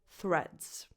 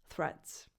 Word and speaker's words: Threads: Number 4, threads. You start with a voiceless th, as in the word think, and then you say reds.